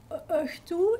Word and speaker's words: õhtu: Yeah, because we have a German past, and some of it is being pronounced in similar ways. But the h, like in õhtu, is it like this one with the?